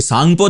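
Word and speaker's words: Tsangpo: नाम हम, जो कि सांगपो था, तिब्बत से ये चली तो इसको सांगपो बोलते हैं। वो हर हर के आगे टी लगा देते हैं, पता नहीं क्यों। तो ये होती है सांगपो की स्पेलिंग।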